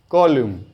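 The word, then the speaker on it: column: लिखेंगे फिर कॉलम लिखेंगे कॉलम एन नहीं बोलना है उसमें एन को साइलेंट रखा जाता है स्पेलिंग क्या है सी ओ एल यू एम एन एन को साइलेंट रखिए साइड में करिए आपको बोलना इतना ही है कॉलम तो ये रो नंबर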